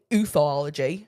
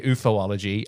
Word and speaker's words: ufology: Uh, do you mean uology? Uh, uhology. Yeah. Pronounce it correctly. Thank you. Sorry. Ufology.